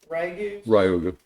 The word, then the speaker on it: Ryugu: How do you pronounce it? Ryugu.